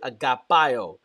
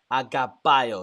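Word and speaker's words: αγαπώ: he uses the word agapo agapo it's the Greek word Agape we say Agape in English agapo is the actual correct I believe anunciation or pronunciation of the word um uh love in Greek agapo it speaks to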